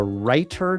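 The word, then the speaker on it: Reiter: Take a look at my video entitled The Writer Document. That writer is spelled R E I T E R.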